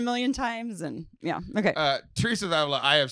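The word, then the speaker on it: Teresa of Ávila: That's not how you say that, but I understand what you're saying. You asked me how to say it before we started, and I told Teresa of Avila? Teresa of Avila. You're like, Therese of Avila.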